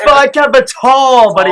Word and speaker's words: Tau: Is it It's Phi Kappa Tall, buddy. It's Phi Kappa Tall. I've heard Phi Kappa Towel.